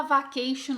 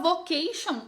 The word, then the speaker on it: vacation: Não tem como falar vacation olhando para cá. Não tem como falar vocation olhando para cá. Tá óbvio que é vacation. Vacation.